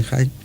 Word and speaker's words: Hine: Pero a diferencia de, por ejemplo, quien fue su maestro, realmente su maestro, que era Lewis Hine, se escribe H-I-N, pero debe ser Hine, que se pronuncia, que